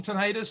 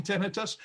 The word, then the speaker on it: tinnitus: on the phone and they're always saying tinnitus and i'm saying tinnitus and i said perfectly all right those are the proper ways to pronounce it now the thing we